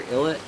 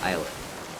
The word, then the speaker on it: islet: to go between Center illit islet and or eyet I think I've heard it's supposed to be pronounced eyet yeah go between Cinder